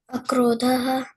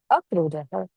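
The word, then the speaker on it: अक्रोधः: Akrodhaha, Akrodhaha. Okay. And what does it mean? absence of anger. Absence of anger. Perfect. Yes. So please make sure you'll make the correct pronunciation as you did today. Akrodhaha.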